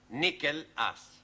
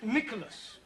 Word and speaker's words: Nicholas: upon a time there was a man called nickel us once upon a time there was a woman called nickel it's pronounced Nicholas alright once upon a time there was a